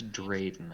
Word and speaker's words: Drayden: of I think I can't remember how to pronounce his name. Dryden. I think it's Drayden.